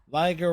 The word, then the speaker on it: Liger: Liger rhymes with Tiger, uh, Striker, Captain Sylon, Papa Jelly, whether you chat it, lurk, greatly appreciate y'all for hanging out.